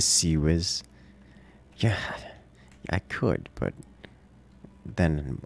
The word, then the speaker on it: CIWS: not far enough AE never say ciws like that again it's a c whiz yeah I could but